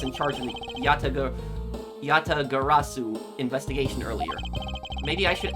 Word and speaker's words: Yatagarasu: Yatagarasu, that's how you pronounce it, made a move.